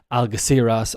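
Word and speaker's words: Algeciras: Costa Del Sol in algeethiras if I got that uh pronounced correctly but in English of course of course we'll say algaciras or something um a man injured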